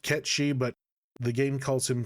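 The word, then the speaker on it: Cait Sith: Kate Sith is this thing. We'll talk about him in a second. Side note, yes, I know it should be pronounced Ketchi, but the game calls him Kate Sith, so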